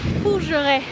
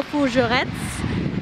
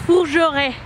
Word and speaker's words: Fougeretz: porque lo pronuncié mal, lo siento, es Fougeray. Como tiene una T y una Z, yo hago Fougerettes y pues está mal. O sea, por la Z se me fue el pedo porque... X, no se pronuncia, así que es Fougeray, perdón.